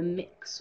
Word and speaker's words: Mx: that's how it's written you can pronounce it either mix or Ms um it's yeah it's